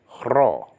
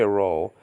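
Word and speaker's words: rho: It is an R in Greek, chro. Don't say ro, say chro.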